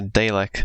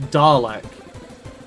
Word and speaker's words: Dalek: Oh, there's a Dalek. Luckily, my Lazarus chip took me back. And far enough to there's start Data from Star Trek. Elena. What? Elena. It's pronounced Dalek.